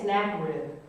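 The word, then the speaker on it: Sennacherib: r i b sakid I'm going to say snack rib the Saka rib is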